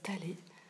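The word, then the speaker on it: Taller: petite commune de talé ça s'écrit taler mais il paraît que ça se prononce talé et donc voilà c'est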